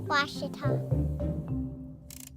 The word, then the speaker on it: Ouachita: University get it right it's Ouachita people it's Ouachita Washita I'm Nicole Auerbach from